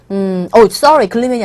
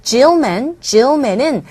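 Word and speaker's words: Gilman: 이게 하원 의원을 뜻하는 단어가 되겠는데 하원 의원인 벤자민 글리맨은 글리맨이 아니라 잘못 읽었어요. Gillman은 slammed, 혹평했습니다.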